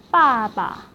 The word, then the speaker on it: 爸爸: In this case, the second syllable is repeated with a slight change to a neutral tone. For example, father, 爸爸 So we'll repeat 爸 But then the second 爸 will be in neutral tone.